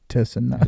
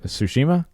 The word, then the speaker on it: Tsushima: Ghost of Tsushima. Oh, Tsushima?